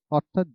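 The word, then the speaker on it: hour: honest আওয়ার honourable ইয়ার এদের ক্ষেত্রে এন বসে অর্থাৎ যে সকল ওয়ার্ডের ক্ষেত্রে এইচ উচ্চারণ হয় না এইচ এর উচ্চারণ হয় নাই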